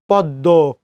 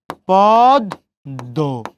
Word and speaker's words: পদ্ম: এই দেখেন পদ্ম কেমন হবে তাহলে? পদ্ম, ম নাসিক বর্ণ লোপ পাইছে, ওই জন্য চন্দ্রবিন্দু হয়েছে।